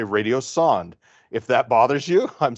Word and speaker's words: radiosonde: Some people pronounce it sonda. You'll hear that. Some people pronounce it sonde. I'm in the sonde camp. I'm going to say radiosonde.